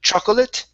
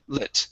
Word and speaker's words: chocolate: the word chocolate Okay the second o is not is not pronounced so instead of saying chocolate it's Chate chocolate chocolate okay take out that O Okay so uh it's